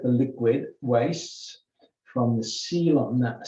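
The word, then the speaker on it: coelom: liquid waste from the sealant c-o-e-l is it we pronounce it as seal and it's a space and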